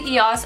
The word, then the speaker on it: EOS: And I'm using one from EOS or EOS. It's actually EOS. I recently discovered I had been saying it wrong.